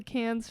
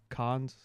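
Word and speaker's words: Cannes: Should we start a film festival called the Can's film festival? And it's just There is a What's How's it pronounced? Cons. I think most people just say can cans.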